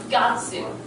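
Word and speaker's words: 月: Remember the Getsu kanji? But in this instance, it's pronounced Gatsu. So, and four is one of the weird ones, so it's Shigatsu, not Yogatsu.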